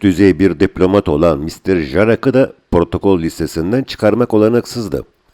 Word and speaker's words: Jarak: yabancı Diplomat yer alıyordu ancak MR jarak j'si y diye okunuyordu bizim diplomatların Adamın adını doğru söylemeleri söz konusu değil üst düzey bir Diplomat olan MR jarak da protokol lisesinden çıkarmak